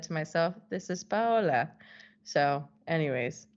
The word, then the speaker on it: Paola: she goes oh okay Paola is going to be too difficult so just tell them to say you see that's the thing no one's actually sure how to say my name because we've got two different ways to say it but you gotta make that's like the advanced version and then this is the intermediate version Paula to closer to